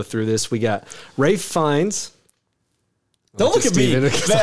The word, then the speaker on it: Fiennes: name is easy, but how do you, like, is it Fiennes? Is it Fiennes? I don't know how to pronounce the last name. Fiennes. It's Ralph Fiennes.